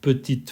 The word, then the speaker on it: petite: رنګ کې ایښودل شوې کوچنۍ نجلۍ موږ د petite په پای کې E نه تلفظ کوو مګر موږ T petite petite voil وایو ځکه چې دا ښځینه کلمه ده